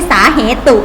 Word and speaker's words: สาเหตุ: แต่ ละ อุไหม คะ แต่ เรา ไม่ ต้อง ออก เสียง กระปุก นะ ไม่ ใช่ สาเหตุุ ไม่ มี นะ คะ อ่าน ว่า สาเหตุ เช่น สาเหตุ ของ การ